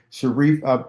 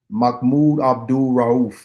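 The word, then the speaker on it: Mahmoud Abdul-Rauf: Sharif, no. It ain't Sharif. It's Mahmoud Abdul Rauf.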